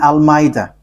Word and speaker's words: Almeida: Okay, let's read in Almeida. So the way you write it, Almeida, is as it is pronounced, Almeida.